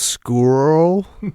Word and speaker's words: Scurll: I think it's pronounced squirrel.